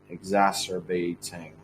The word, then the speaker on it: exacerbating: know misinform you guys exacerbating from that exacerbating exacerbating exacerbating the the let me show you one second the uh the key syllable is Za so it's kind of